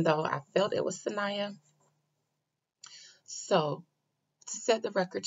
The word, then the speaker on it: Saniyya: pronunciation um i think i heard somebody else pronounce it sonia and so i thought that was the way it was pronounced even though i felt it was sanaya so to set the record straight her name